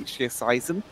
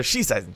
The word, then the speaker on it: Schießeisen: Greymane went for the Hunter's Blunderbuss, or as I learned in the last couple of weeks, the Schießeisen in German.